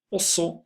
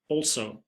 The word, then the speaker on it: også: Also is the Norwegian equivalent for also or to. We pronounce it like this. We say the O at the beginning as an O and the G is not pronounced.